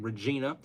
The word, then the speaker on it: Regina: Brian, our last mayor had a campaign slogan, Regina, the city that rhymes with fun.